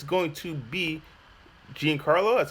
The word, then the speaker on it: Giancarlo: guests joining me today it's going to be Gan Carlo that's how you say that's how you pronounce it yeah John Carlo yeah John Carlo and we have the next in line for